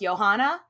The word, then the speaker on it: Johanna: We're just gonna call him Christian August, Prince Christian August, and his young wife Joanna, or I've also heard it pronounced Johanna.